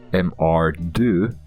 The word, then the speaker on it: MR2: rear-wheel drive two-seater but the French pronunciation m/r do sounds very similar to the French word mare the AHA which means